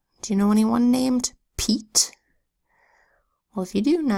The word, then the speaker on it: Pete: a T that says it needs a silent final E so that the e is long eat without this silent finally the word would be pet and I don't know anybody named Pete that wants to be called pet now let's look at